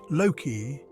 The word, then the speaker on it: Loki: Loki, pronounced Loki, is the wily trickster god of Norse mythology.